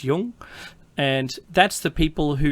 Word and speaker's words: Jung: And you could say Jung cuz it's spelled J U N G, but it isn't. It's it's pronounced Yung.